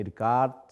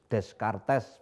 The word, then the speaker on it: Descartes: rasionalisme dengan tokohnya ada Rene dekat ya Rene dekat jangan Rene Descartes begitu diingat cara bacanya Toure dekat kemudian ada